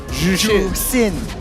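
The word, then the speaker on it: Zhuxin: Jushin. It's not Jushin. Jusin.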